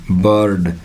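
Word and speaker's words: bird: जैसे अब आ गया बर्ड, क्या आ गया बर्ड, आर का उच्चारण नहीं होगा, और बी के लिए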